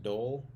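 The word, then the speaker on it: dhole: here the tan sean d-hole is pronounced dole i mean it makes more sense than calling it d hole but because the hole means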